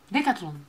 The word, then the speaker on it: Decathlon: Decathlon. Decathlon. Ah, é igual? Decathlon. Ah, they Decathlon. Have here in Ireland, Decathlon. Decathlon. Decathlon. Decathlon. Decathlon. Então é no final. Decathlon. Decathlon. Isso.